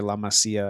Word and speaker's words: La Masia: And or sorry, La Masia, I think is the correct way to pronounce that.